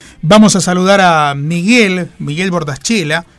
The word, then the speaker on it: Bornaschella: Bornaschela en italiano, y acá en la Argentina está bien pronunciado Bornaschela.